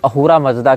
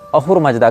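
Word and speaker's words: अहुरा मज़्दा: फारसियों में, जहाँ पर अहूरा मजदा की ये बात करते हैं, अहूर मजदा। अब ये स को ह पढ़ते हैं फारसी, सकार का उच्चारण हकार के रूप में करते हैं, इसीलिए अहूरा को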